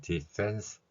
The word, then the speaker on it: defense: defense에서 F에 해당하는 소리는 우리말에 없는 소리입니다. 따라서 이 F에 해당하는 소리를 저는 피읍 아래 작은 동그라미를 친 글자 표기로 나타내고 있습니다. defense에서 fen 발음이 언뜻 들으면 펜과 비슷하게 들리겠지만 우리말 피읍과는 다른 윗니로 아랫입술을 물고 내는 소리입니다.